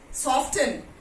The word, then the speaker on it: soften: Soften, soften. No, soften. T is silent over here.